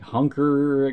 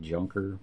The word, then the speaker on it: Jukar: It's like hunker or something like that, I guess it's pronounced, because the J would be an H in Spanish, but it looks like junker.